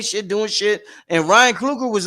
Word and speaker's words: Ryan Coogler: Yeah, Ryan Coogler.